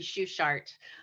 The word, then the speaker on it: Sugart: name in the beginning it's not the German pronunciation so don't feel bad it's okay we Americanized it when you know my dad did and so it's sugared it's supposed to be shoe shart um so anyway I